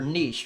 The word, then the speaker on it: niche: viewers number three is finding your Niche or Niche or whatever it's pronounce both ways now as a lot